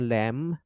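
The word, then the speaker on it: lamb: ইংরেজিতে বলে যদি উচ্চারণ ল্যাম বি এর উচ্চারণ খুব সাইলেন্টই বলা যায় তবে এটার উচ্চারণ বানানের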